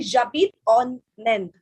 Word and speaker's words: J'habite en Inde: So it will be j'habite en Inde. J'habite en Inde. Just see my pronunciation.